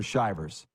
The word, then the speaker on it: Shivers: Is it Shivers or Shivers? Shivers. Okay. Got it fixed.